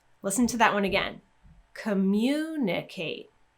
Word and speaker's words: communicate: to that one again communicate communication so again with the ate ending we're going two syllables before and then with the tion ending we're going to stress the syllable right before that Tio n if you want extra